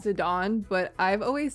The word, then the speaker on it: Zidane: I'm just going to take Zedane and put him over here. I believe the correct way to say it is Zidon, but I've always said